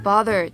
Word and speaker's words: bother: で、男の人はバレンタインデーだからね、どうしてほしいのっていうふうに聞いてます。女の人は、さあ、ただ私の視界を邪魔するカップルが少ないところがいいなって思ってるのっていうふうに言ってます。to bother で邪魔をするという。 Right, and North American pronunciation, bothered. Bother. Right, you need to open your mouth very big like that.